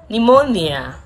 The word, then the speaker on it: pneumonia: words with silent letters p is silent in these words receipts pneumonia cupboard some raspberry psychology